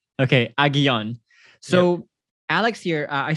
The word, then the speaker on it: Aguillon: Aguillon, like the two L's are a Y sound. Okay, Aguillon.